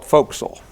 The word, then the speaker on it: Forecastle: call it Tony town so I know it's spelled Forecastle but Sailors call it folkal it's spelled gun whell